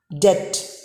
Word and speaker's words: debt: is d b t b is silent this should be pronounced as death debt now before we end